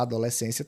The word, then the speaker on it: adolescência: A adolescência também é uma paroxítona, porque a sílaba tônica ela recai aqui, paroxítona, e período, que é proparoxítona.